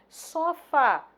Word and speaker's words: sofá: Sofá, sílaba tônica Fá, uma palavra oxítona.